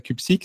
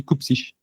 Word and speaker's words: Cupcic: minutes à me dire non c'est pas Cupsique, c'est Coupsich.